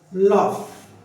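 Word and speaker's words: laugh: जैसे कि मैंने यहां पर लिखा लॉफ एल ए यू जी एच लॉफ you silent हो गया।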